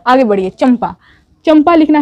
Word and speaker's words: चंपा: चंपा, चंपा लिखना है उर्दू में तो कैसे लिखेंगे, ध्यान से देखिए, यहाँ पर चंपा है, ऊपर बिंदु वाला ना है लेकिन इसको माँ प्रोनाउंस किया जा रहा है, यानी कि चंपा